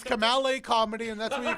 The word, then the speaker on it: Kamala: Kamal A Comedy. Kamala, just like the vice president.